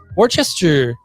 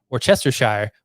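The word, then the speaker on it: Worcestershire: of like rye put some worchester sauce on it instead of orchestra shire which is how it is spelled aluminium aluminium coat coat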